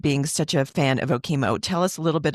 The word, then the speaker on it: Okemo: I don't know what OKO was I I think I even pronounced it ok which is now a huge issue for me everyone it is OKO I at the time